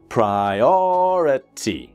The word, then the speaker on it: priority: prai or a T and this is the second syllable strong priority okay my biggest priority